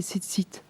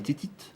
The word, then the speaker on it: tzitzit: Oh, je les prononce mal, mais Voilà. c'est les tzitzit. Les titites.